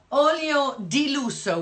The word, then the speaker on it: Olio di lusso: And in about 2007, I think, she started this oil, Olio Lasso. Is it, how do you say luxury oil? Olio di lusso would be the way you'd say it in Italian.